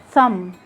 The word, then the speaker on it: thumb: like in climb limb thumb lamb lamb in all these words you just ignore the b and you and you stop at the sound of the m but notice the b